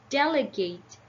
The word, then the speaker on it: delegate: stress and the third syllable get the secondary stressed so delt a gate Del a gate delegate delegate and it would sounds like that when you pronounce it delegate delegate okay number four we